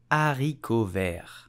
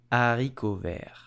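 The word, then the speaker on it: haricots verts: the green beans in French how do you pronounce it correctly you will simply say arikovir a recover there I hope you enjoyed this video if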